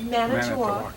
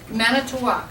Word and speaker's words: Manitowoc: Manitowoc. Manitowoc, okay, Wisconsin, and executive director at Santa Barbara Maritime Museum.